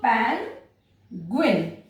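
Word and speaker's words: penguin: तो यहाँ पर जी यू आई आया तो हमने क्या किया? इसको पैंगुइन ऐसा प्रोनाउंस किया, ये याद रखना है।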